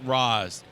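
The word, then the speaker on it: Ra's: apostrophe s is pronounced raas there's no sh in there there's no R where would anybody I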